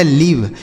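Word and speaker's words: live: Last में ही रहेगा तो उसे नहीं पढ़ेंगे। यह लिखा गया लीव।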